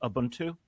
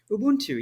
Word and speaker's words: Ubuntu: on the podcast before and it's if I'm pronouncing it correctly, Abuntu. Ubuntu.